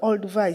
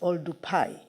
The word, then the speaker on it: Olduvai: The proper pronunciation of Olduvai is Oldupai, but those who started writing these words they decided to put V instead of P. Maybe the pronunciation was not clear to them, etc. But when you go to Maasai people, those who are staying in Olduvai, they tell you it is Oldupai.